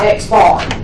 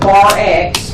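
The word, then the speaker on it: x̄: X with a line over the top of it is pronounced X bar. Some textbooks call it bar X, but X bar or bar X is interchangeable.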